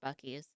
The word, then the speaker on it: Buc-ee's: Yes, I know it's pronounced Bucky's.